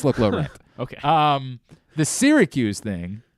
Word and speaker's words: Syracuse: and I'd be like, where do you see an A? Where is that coming from? It's Syracuse.